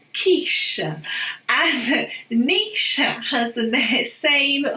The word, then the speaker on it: quiche: We don't say kitsch, it's quiche.